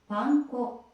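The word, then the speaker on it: パン粉: Breadcrumbs in Japanese is panco. Okay, so I my pronunciation was a little bit off, but basically Punkco the chicken wing or thicken wing just gifted five tier one subs.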